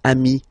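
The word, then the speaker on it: amis: put the plural form then you just add this final s here okay but then technically you pronounce it the same way so singular form Ami plural form you add this s but it's Ami as well okay in that case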